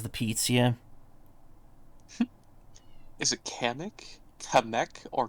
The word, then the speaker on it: Kamek: Is it Kamek, or Kamek? Kamek, I think, is how it's supposed to be pronounced. Because in Japanese, a K-A would be Ka.